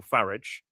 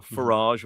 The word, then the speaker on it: Farage: Uh I believe a lot of it came from people uh one in particular was Nigel Farage or Farrage or however you say his name. I always rhyme it with garage.